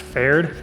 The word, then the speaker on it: Pferd: I think it's pronounced Pferd, but I'm an American, so I should just pronounce it Ferd.